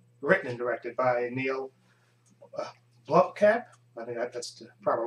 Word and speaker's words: Blomkamp: directed by um written and directed by Neil Blomkamp my god that's the proper way to pronounce his name cause he did district nine